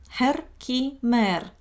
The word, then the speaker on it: Herkimer: Herkimer. I have no idea how to pronounce it right in English, but this is how it's pronounced in Germany.